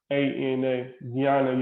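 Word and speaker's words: jnana: that but so this even though it's spelled j-n-a-n it's pronounced um g-y-a-n-a gianna yoga and you'll see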